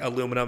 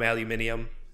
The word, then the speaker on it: aluminium: a damn all right according to wikipedia the u.s pronunciation is macabre or uk is macabre so it's more it sounds like a us uk thing like aluminum aluminium seeing as my last